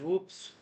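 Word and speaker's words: WPPSS: on July 25th 1983 wppp SS pronounced as whoops announced that it was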